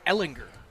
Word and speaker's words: Ellinger: By the way, we going with Ellinger or Ellinger? What do we decide? I think it's Ellinger. Yeah, I thought it was a hard G. hardcore. Gah, It's like Tigers.